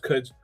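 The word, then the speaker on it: Quds: know um and the military and especially the Cuds force. And I'm really interested. You know, I didn't mention Cuds, you know, it's it's Q, right? But yeah, but it's pronounced Cuds.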